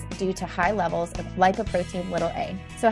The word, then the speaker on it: lipoprotein(a): do you say it we say LP little a but lipoprotein little a is probably more correct and this is a